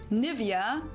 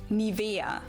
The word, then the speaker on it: Nivea: English native speakers usually say Nivea. Nivea. In German, we say Nivea. Nivea. Nivea. So, the emphasis is on the e.